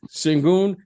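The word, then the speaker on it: Şengün: Sengun, is that how you pronounce his name? Sengun. Yep, Sengun.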